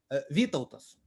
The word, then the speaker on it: Vytautas: It starts with a V, and I can't pronounce it, and I'm afraid I'm going to butcher it. Vytautas.